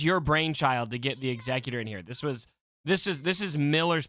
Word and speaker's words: Executor: I did have to teach a lot of people how to pronounce it. Oh, wait, am I saying it wrong? No, you are. Okay. Executor.